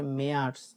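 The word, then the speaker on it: März: হ্যাঁ, তারপর হচ্ছে মেয়ার্স মানে মার্চ, যেটা মেয়ার্স।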